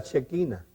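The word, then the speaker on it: Shekinah: habla a la iglesia también se puede pronunciar la chequina Entonces el mensaje le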